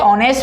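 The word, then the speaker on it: honest: ये H silent रहता है, साउंड निकलती है ऑनेस्ट, और वोवल साउंड से पहले आर्टिकल किसका यूज करते हैं, एन का।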